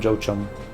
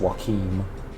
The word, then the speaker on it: Joachim: It just keeps going down the list until you finally get, I still call him Jochum. I've been told his name is pronounced Joachim, but, you know, stuffs.